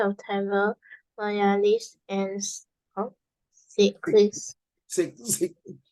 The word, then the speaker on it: Sikh: Sikh. It pronounced as Sikh, not S-I-C-K.